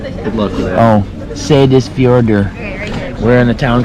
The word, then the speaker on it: Seyðisfjörður: How do you pronounce it? Good luck with that. Oh, Seyðisfjörður.